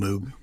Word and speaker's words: Moog: with with with Bob saying my name is moog but if you want to call it Moog that's okay he was